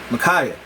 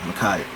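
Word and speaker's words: Ma'Khia: I was meaning to say it, but Micaiah, I believe that's how you pronounce it, Micaiah.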